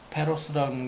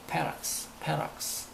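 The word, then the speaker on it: ferox: 페로스, 포락스 발음이 어렵죠. 페로스라는 게 아니고 페락스.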